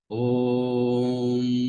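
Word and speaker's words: ॐ: any verbal articulation so om also as you know om consist of a so it depends what you prolong a or U or normally om is pronounced om Mo prolong as we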